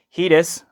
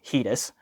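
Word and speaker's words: Hidizs: This is the Heatus Apparently that is how you pronounce that. I asked the company, Heatus.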